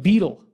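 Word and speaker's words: baetyl: renamed from omphalos to betel. And it's a little funny because the AE is kind of pronounced E, so it's more like beetle.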